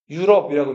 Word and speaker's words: 유럽: 이걸 뭐라고 읽어요? 유럽이라고 읽죠.